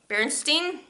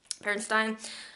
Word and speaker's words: Berenstain: The Berenstain Bears, Bears in the Night by Stan and Jane Berenstain, Bernstein, depending on how you say it.